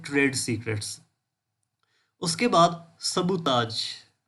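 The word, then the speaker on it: sabotage: उसके बाद सबूताज, या इसको समटाइम्स सबूताज भी कहते हैं। मैं लिख देता हूँ सबूताज। आखिर पे ना जेड की आवाज़ आती है, ठीक है। प्रोनाउंसिएशन का ख्याल रखना।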